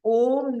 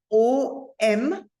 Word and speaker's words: Om: Now, see, in Sanskrit, the vowel O is a diphthong.